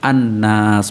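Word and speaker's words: النَّاس: Jadi ciri-ciri asamsyah itu lamnya itu tidak ada harokatnya, tidak dibaca, ya, langsung masuk ke huruf berikutnya yaitu nun. Nun itu kan huruf asamsyah, yaitu al bertemu dengan nun, ya, an-nas, maka hukum bacanya adalah asamsyah.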